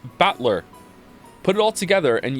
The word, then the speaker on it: Battler: close all right good my name is written batler can you read it nope the first part is my family name that's a fairly plausible Japanese pronunciation so far not from me the problem is my given name whatever is made up oh of the characters for fight and person and it's pronounced battler put it all together